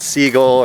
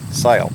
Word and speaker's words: Segl: the amok siyul and yes that's spelled SE GL but it's not seagull or cycle it is sale now for those of